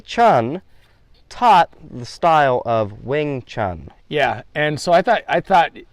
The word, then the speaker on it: Wing Chun: It was Wing Chun, is that?